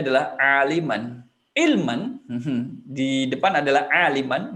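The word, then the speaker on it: عالمًا: Jadi bacanya adalah aliman.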